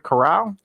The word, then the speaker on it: Corrall: And am I pronouncing your last name right? Corrall?